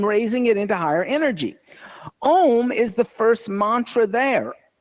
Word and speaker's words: Om: It's not like one is pronounced slightly different because when 2 vowels come together in Sanskrit, the A and the U, the second vowel becomes silent. And so that's why when Om comes together, A-O-M, it goes Om.